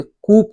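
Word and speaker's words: coup: दोस्तों next word आपका है कोअप। कोअप का मतलब होता है अ विलियंट विक्ट्री, विजय, या एकम्प्लिशमेंट, सॉरी इसे कूप कहते हैं। कूप, इसको क्या प्रोनाउंस करेंगे, कूप।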